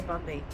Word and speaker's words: Bondi: Bondi, I'm sure what you say, Bondi. Locals say Bondi.